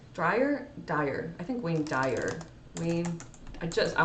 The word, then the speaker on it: Wayne Dyer: He says, the late and great Wayne Dyer says, Dyer?